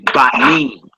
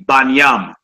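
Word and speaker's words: בנים: How you say that in the plural form, you would say Banim. Banim. You hear brothers that don't use vowels, they say Banyam.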